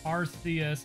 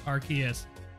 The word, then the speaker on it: Arceus: the subs appreciate it in Japan it's pronounced RCS and in English it's Arceus well good thing we're